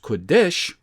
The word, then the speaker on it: Kadesh: For instance, uppercase PRT, pronounced Perit, would be Euphrates, or uppercase Q, lowercase u, uppercase DS, lowercase h, pronounced Kodesh, would be Kadesh.